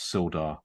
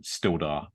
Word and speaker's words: Sildar: about your character is his refusal to pronounce sildar correctly I'm constantly saying stilder um yeah I'm going